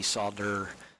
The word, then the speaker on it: solder: and I do protein I do pronounce the D solder solder x' and there's